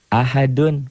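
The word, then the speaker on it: أحد: Ahad bacanya ada e-nya. Kayak bola yang mantul jatuh tidak langsung diam, mengeper, mengembal.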